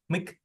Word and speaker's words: Mc: I'm sorry, but the word MC is Yeah. pronounced as Mick, not Mac, right? Yeah, it's Mick.